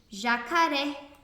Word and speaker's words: jacaré: sílaba mais forte por exemplo jacaré percebam que o er é é a sílaba mais forte e é a última por isso ela é oxítona quando é paroxítona é